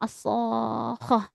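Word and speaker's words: الصاخة: Panjang ya ini mad lazim mutlaqal kilmi. Bacanya panjang. As-shakhah.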